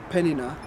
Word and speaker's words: Peninnah: And Peninnah, that's how you say it, had children, but Hannah had no children.